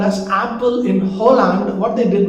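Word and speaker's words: Appel: this particular village name is a double p e l but then pronounced as apple and the original brand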